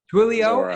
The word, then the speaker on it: Twilio: I probably can't pronounce this word. Twilio, I think. I've heard of that. And is it Zuora? Close. Twilio and Zuora.